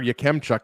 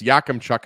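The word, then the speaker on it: Yakemchuk: is huge I mean I said Carter yemchuk it's yakam Chuck as well but I mean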